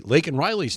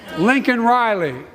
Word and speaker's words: Laken Riley: at him to say Laken Riley's name, and he got the name wrong when he even responded to her. I'd be a winner, not really. Lincoln Riley, an innocent young woman who was killed by an illegal.